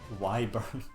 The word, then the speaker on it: wyvern: to play that version why burn like i always called wyvern slytherins because that feels better to me but i know why burns the correct pronunciation but why burn like